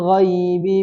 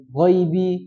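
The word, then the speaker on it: الغيب: Wa ma huwa 'alal ghaibi bidanin. Baik, perhatikan ghaibi, ghairi ya. Kata-kata ghaibi, ghairi, kemudian apa lagi? Jau'a dan yang lainnya itu adalah bacaan lin bukan mad. Artinya jangan dibaca panjang.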